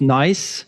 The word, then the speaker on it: NAIS: nice. so that is n AIS s. IO uh so it's it's pron pronounced nice it's a nice platform